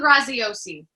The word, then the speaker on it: Graziosi: Dean Graziosi.